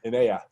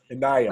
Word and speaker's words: Inaya: Yeah. Long E. Inaya. How'd I do there? Better? All right. Inaya. Like an I in there.